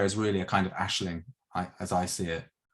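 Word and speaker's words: Aisling: how is that spelled ashling is a ing so you say it like ash ash but it's ais yeah so it's it's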